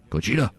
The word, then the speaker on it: Gojira: This is a news show and stars Aaron Taylor-Johnson from Kick-Ass, Ken Watanabe playing the obligatory Japanese guy who pronounces the name properly, Gojira.